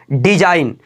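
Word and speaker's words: design: याद रखिएगा यहां पर है एन, रूल क्या बोला कि एन से पहले आया जी हमेशा साइलेंट होता है, एन से पहले आया हुआ जी साइलेंट होता है, याद रखिएगा।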